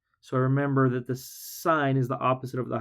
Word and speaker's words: sine: Even though it's written like sin, we don't say sin.